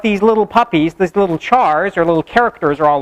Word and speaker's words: char: We call it either a char, like the first syllable in character, or some people call it a car, even though it's not called a character, because they just look at it and they're like, oh, if it was one syllable, it would just be car.